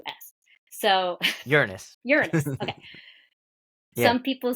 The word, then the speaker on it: Uranus: listening to different astrologers especially more recently the pronunciation of the planet Ur r a n us so Uranus Uranus okay some people say Uranus and I don't